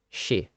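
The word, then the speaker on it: 四: You see, the word for four in Japanese is often pronounced shi. This also happens to be the same way that a Japanese pronounce the word for death.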